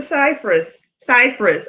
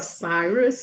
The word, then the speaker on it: Cyrus: Cypress. I always get your name wrong. Cyrus.